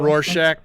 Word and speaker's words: Rorschach: to go save rochelle rooshack right how do you say it again i like i like roof shack though it sounds like you want to know about rorschach i'll tell you about rorschach